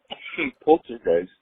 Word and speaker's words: Poltergeist: So, on the whole poltergeist issue, my sister's a bit of a paranormal buff, and she's telling me that poltergeist is actually pronounced in German as poltergeist, and she was telling me that poltergeist.